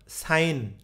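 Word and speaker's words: sign: আপনাদের সময় লাগবে সেজন্য আমিই বলছি আপনারা জানেনও সাইন এস আই জি এন এই জায়গায় জি এর উচ্চারণ নাই কেন কারণ হচ্ছে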